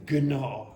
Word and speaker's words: gnaw: The GN you do not pronounce gnaw. You say gnaw.